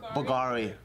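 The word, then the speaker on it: Bvlgari: Bulgari? Bulgari. Why is it a V and not a U?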